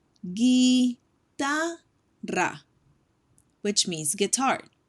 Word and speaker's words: guitarra: Guitarra. Guitarra, which means guitar. Guitarra.